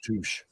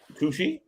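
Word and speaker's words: touché: It's pronounced touche. Touche? Touche? Not touche.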